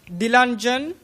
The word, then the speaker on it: Dilanjan: What is the exact pronunciation? Dilanjan. Dilanjan? Right. That's. Oh, Dilanjan. Perfect.